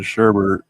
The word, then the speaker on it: sherbet: You pronounce the T in sherbet, but sorbet was always sorbet.